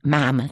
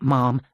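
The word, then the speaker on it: ma'am: the first time and m'am to rhyme with ham not Mom to rhyme with Farm after that and to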